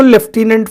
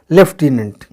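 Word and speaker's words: lieutenant: यह ध्यान रखिए की जो यह लूटी शब्द है इसको लेफ्टिनेंट पढ़ते हैं इसका प्रनंसीएशन है तो इसकी स्पेलिंग पर ज्यादा जोर दीजिएगा स्पेलिंग करेक्शन में यह शब्द काफी इंपॉर्टेंट रखता है इसकी स्पेलिंग लिया जाता है lutinents और पढ़ा जाता है लेफ्टिनेंट लेकिन इसके कुछ अपवाद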